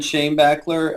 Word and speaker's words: Schoenbaechler: your last name because i think i didn't pronounce it correctly but go ahead introduce yourself to my community yeah i'm uh shane bachler um the name of uh my company's uh